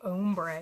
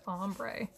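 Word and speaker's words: ombré: I always want to say ombre. If I ever say ombre, just be like, Anna, what are you talking about? It's pronounced ombre.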